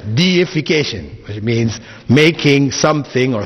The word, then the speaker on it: deification: that word in English please don't pronounce it as defecation right because that has a whole different meaning altogether it's deification which means making something